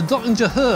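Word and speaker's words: Döttinger Höhe: track in the world, the Dottinger Höhe, I think it's pronounced. I had a German teach me that the other day. Maybe he was yanking my chain, but I think I got it right.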